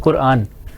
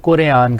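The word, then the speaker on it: قرآن: लाते हैं ना तो ये गलत प्रोनाउंस करते हैं कुरान कुरान एक लफ्ज है कुरान आप जब सुर में आते हैं तो आप लोग कुरयान कर देते हैं उसको आपने भी किया कुरयान कुरान नहीं कुरान कुरान ठीक है इसकी प्रैक्टिस करें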